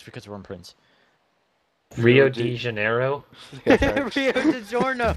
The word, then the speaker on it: Rio de Janeiro: It's not delivered, it's Rio de Giorno. Rio de Janeiro. How do you say it? Rio de Janeiro. Or de Janeiro.